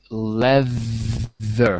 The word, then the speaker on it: leather: Do you like white laser? Yeah. Some sofas with white laser. Yeah. It looks luxury. Yeah. Excellent. So by the way, the pronunciation is leather.